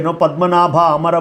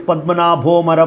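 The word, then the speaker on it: पद्मनाभोऽमर: Pundanam does not know proper Sanskrit, That is why whenever Pundanam would chant Vishnu Sahasranam and say, Padmanabha Amara Prabhu, So when you read together, it is Padmanabho Amara Prabhu.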